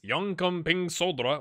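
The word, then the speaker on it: Jönköpings Södra: work on that so we're playing second place young coming solder which is exactly how you say it and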